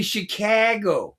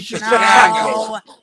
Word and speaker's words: Chicago: You didn't say it right. You got to say Chicago. I mean, Chicago. See, I grew up in New Orleans. So, I got that swang. It's Chicago.